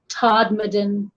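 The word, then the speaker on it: Todmorden: in england in a town in yorkshire called todmaden and that is spelled t-o-d-m-o-r-d-e-n and it was uh it was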